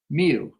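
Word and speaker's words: μ: of it and that is the Greek letter me it's pronounced oops me and so while it's perfectly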